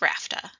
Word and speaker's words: RFTA: RFTA, sometimes pronounced RAFTA, or Request for Tenancy Approval.